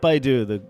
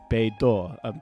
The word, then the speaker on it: BeiDou: an announcement on the Beidou... It's beidou. Shoot, beidou. It's not Baidu. It's beidou. Sorry. This whole article, I've been saying Baidu. It's not Baidu, the search engine. It's beidou. I apologize for that.